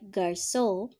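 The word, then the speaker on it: garçon: let's listen giraffe giraffe for heart j like garso which means boy it is a heart pronunciation if it is in front of an a o u or a consonant okay and as you can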